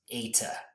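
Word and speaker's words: eta: Greek letter AA so this Greek letter is pronounced AA just like this Greek letter is pronounced Delta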